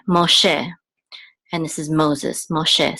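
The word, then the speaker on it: מֹשֶׁה: This chola makes the o sound. So mo, and this sego says and this hey is silent. So this is she, Moshe, and this is Moses, Moshe.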